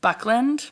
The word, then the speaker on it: Buckland: Buckland. Oh, I thought it was something else. No. What's his first name? Andy. Andy or Buckland. Andrew. Okay. Yeah, whatever. Andy Buckland.